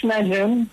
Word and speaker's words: Najem: Najem. I'm pronouncing okay your last name? Najem? Yes, it's Najem.